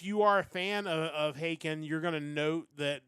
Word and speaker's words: Haken: They are Haken, and their new album is Live Forms, An Evening with Haken.